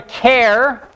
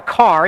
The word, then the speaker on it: char: We call it either a char, like the first syllable in character, or some people call it a car, even though it's not called a character, because they just look at it and they're like, oh, if it was one syllable, it would just be car.